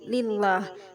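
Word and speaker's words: لله: lillah didahului kasrah Li lillah cara membacanya lafaz Allah dibaca tipis tarkik ya teman-teman panjangnya lillah Bismillahi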